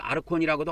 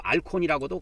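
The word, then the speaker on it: ἄρχων: 그래서 이걸 아르콘이라고도 하고 또는 니을 발음을 여 밑에다 붙여갖고 알콘이라고도 그냥 불러도 됩니다. 알콘.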